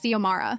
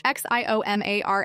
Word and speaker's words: Xiomara: My name is Xiomara. Yeah, it's Spanish. Xiomara. I get that it looks intimidating at first, but it's not rocket science. Xiomara.